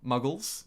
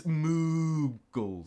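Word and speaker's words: Mughals: Muggles, like Harry Potter. No, just me. It's more of a ooh. It's moogles. Thank you, Alec. More of a moo like a cow moo than a mug like a mug like I am.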